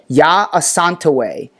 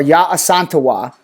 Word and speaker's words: Yaa Asantewaa: Late 1800s, early 1900s, her name, Yaa Asantewaa, or Yaa Asantewaa, either of those pronunciations can work. Yaa Asantewaa or Yaa Asantewaa was a great imperial